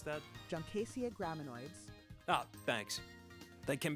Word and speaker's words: Juncaceae: With a handful of cuttings from a eight junkai junsai uh jonakai uh Wait, uh how do you pronounce that? Juncaceae graminoids.